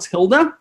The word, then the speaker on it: tilde: It's called a tilde, T-I-L-D-A. That's how you say it, tilde.